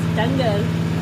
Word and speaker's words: Danger: And it's spelled like danger, but it's Dangur.